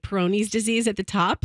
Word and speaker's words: Peyronie's: And- are we pronouncing that properly? No, it's Peyronie's.